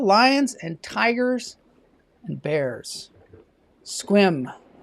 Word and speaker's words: Sequim: Squim. So squim, that's how you spell it. It looks like sequim.